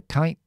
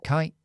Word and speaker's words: kite: voy a Hola Vicky voy a poner aquí esto glotalizada the kite the kite lo que hago es simplemente freno aquí usando la meditación gracias